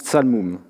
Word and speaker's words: ṣalmum: Sur la première ligne ne figure qu'un signe qui, en akkadien, se prononce tsalmum, statue.